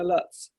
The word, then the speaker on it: Lutz: well, we say Lutz, but it's German. Lutz.